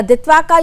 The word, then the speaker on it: Ditwah: है क्योंकि ये जो दित्वा नाम का साइक्लोन है जिसको इंग्लिश में जिसकी spelling D आई टी डब्ल्यू एच है और इसको उच्चारण में हम दत्वा कहते इसका असर इन सब